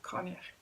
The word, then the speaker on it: Coinneach: Apparently it's like cognac without saying the k on the end of it, so Coinneach.